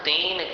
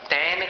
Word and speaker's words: तेन: तुल्या भवन्ति भवतो ननु तेन किं वा। तैन किं वा नहीं बोलना, तेन, तेन और तैन अंतर है ना उच्चारण में, तो तैन नहीं बोलना, तेन बोलना।